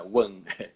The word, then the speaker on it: Hwan: Aí eu sempre falo que é como se fosse o número um em inglês, né, a pronúncia. Então é one. One.